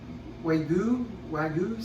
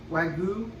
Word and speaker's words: Wagyu: So I bought us some, I know I'm saying it wrong, but the Wagyu steaks, the real marbly steaks, Wagyu, W-A-G-Y-U.